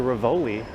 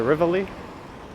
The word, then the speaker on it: Rivoli: Apparently it's officially pronounced the Rivoli, or at least that's the Italian pronunciation, but everyone I've ever known calls it the Riv or the Rivoli.